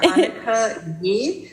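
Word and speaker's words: Anicka Yi: Could you pronounce her name for me again? I'm sorry, you were just doing it. Annika Yi, so Anika, and I think the last name is Y-I.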